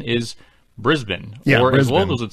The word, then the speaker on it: Brisbane: Missha first of all Brisbane oh yeah not pronounced Brisbane let alone Brisbane although you may have started